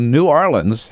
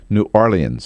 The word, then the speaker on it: New Orleans: I learned from him, the local correct pronunciation is New Orleans. Yes. New Orleans. That is correct. It's hard to say, but it's New Orleans. New Orleans. It's not New Orleans.